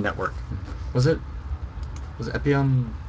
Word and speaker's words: Epyon: we have epon epon do you remember how they pronounce it I think it's epon yeah he's from uh which